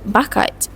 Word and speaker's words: bakat: The word bakat is pronounced with a glottal stop in the end.